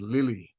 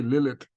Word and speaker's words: Lilith: and her the name you pronounce her name was Lily because you don't pronounce the last letter right Lily you don't say Lilith you say Lily now you see what